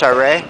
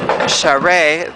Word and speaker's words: Charest: Whereas here in Quebec, the incumbent is someone, I believe his name is pronounced Charest, who is sort of infamous for working against the student protests or manifestations earlier this year.